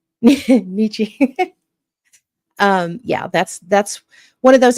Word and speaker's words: Nietzsche: And that's a Friedrich Nietzsche. Did I say it right? Nietzsche. Nietzsche.